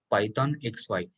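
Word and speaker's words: Python(x,y): next one is pythox this is pronounced as python xy and written has python of x comma y this is the python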